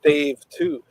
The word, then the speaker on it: D4VE2: But yeah, it's spelled D4VE2, and it's Dave 2.